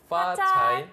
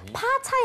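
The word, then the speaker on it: 发财: 한국어 발음은 이 피읍 발음이 되게 구분이 안 되는데요. 우리 영어에 그 F 들어가는 뭐 있죠? 뭐 father, fighting 했던 그 느낌으로 파차이. 파차이.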